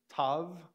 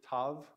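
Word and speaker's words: tau: they would pronounce it Tav it's kind of like the word even though we have a v to help it out mauve the color mauve that's kind of how it sounds there are some circumstances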